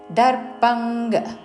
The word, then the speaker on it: దర్పం: తావర్గంలోని అనునాసిక ఉచ్చారణ బలన్ దర్పంగ్ ఇక్కడ అనుస్వారము కావర్గంలోని అనునాసిక ఉచ్చారణ దర్పంగ్ అహంకారం బలం దర్పంగ్ కామం